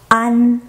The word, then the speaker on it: an: And then when you pronounce an, try to let air out from your nasal cavity.